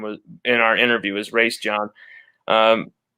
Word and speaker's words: Raesjon: raise john davis and that's that's how his father pronounced his name was in our interview his race john um how what i